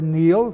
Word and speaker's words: Niall: The Celtic race deals with Niall, N-I-U-L, or Neil, pronounced today, youngest son of Phineas, Pharsus, king of Scythia.